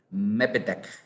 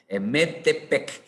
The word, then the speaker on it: Metepec: Luis Miguel, ahora creo que conseguí pronunciar tu ciudad. Mepetec. No, discúlpame. Metepec, México. creo que es eso.